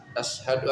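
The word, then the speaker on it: أشهد: As bukan ash tapi as. Asyhadu an la ilaha illallah.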